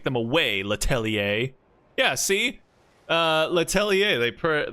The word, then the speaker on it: Letelier: Letelier, they pronounce that with an A at the end, like Xavier.